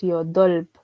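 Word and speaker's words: 여덟: Pero el número 8 es el único caso que nos permite a nosotros pronunciar las 2 consonantes a pesar de que una sea más fuerte que la otra. Por eso decimos yodolp. Yodolp. Esta B que está acá nos suena un poco suave por ser ubicada al final.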